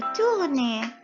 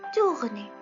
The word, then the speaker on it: tourner: La deuxième verbe, c'est verbe tourner. Tourner, معناه يلف. Tourner. T-O-U. Le O et le U, voyez le composé, ça se prononce OU.